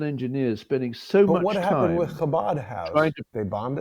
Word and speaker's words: Chabad: Chabad. You got to have like that that Jewish pronunciation.